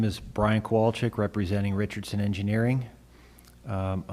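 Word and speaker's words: Kwalczyk: uh good morning everybody my name is Brian qualic representing Richardson engineering um my last name is k w a l c z YK could you pronounce that again sure kowal okay our company address is 7 Dennison Street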